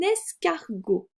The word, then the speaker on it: escargot: Et sur l'escargot, j'ai le E au début du mot, sans accent, d'accord, qui va se prononcer est. Donc c'est lorsque le E ne se situe pas à la fin de la syllabe. Vous voyez que la première syllabe c'est S, E et S. Même si je n'ai pas d'accent, je vais dire est.